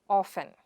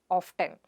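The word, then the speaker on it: often: The next word is of-en and not Of-Ten. But, Of-Ten is not a wrong pronunciation, but less pronounced word. Therefore, itís better that you adhere to the pronunciation Of-en.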